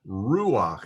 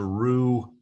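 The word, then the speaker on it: רוּחַ: exception to the rule normally we would pronounce the word uh ruach as a rue because the vowel should come after the vowel but when a patak comes underneath a head you pronounce the vowel first and then the consonant there are very few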